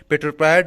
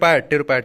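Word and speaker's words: pteropod: है, 0.5% भाग पर पेट्रोपायड ऊज पाया जाता है। ठीक है, टेरोपायड पी साइलेंट रहेगा, टेरोपायड ऊज पाया जाता है।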